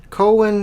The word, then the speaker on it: Cohen: you say his name Cohen Cohen is the H silent songs from a room